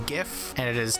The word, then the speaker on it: GIF: like to argue that the only people who say hydrogen are the same people who pronounce gif as jiff did i just state my stance on that non-issue yes i did it is not jif it is gif and it is not